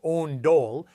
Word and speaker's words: ondol: Ondol, pronounced ondol, is the traditional Korean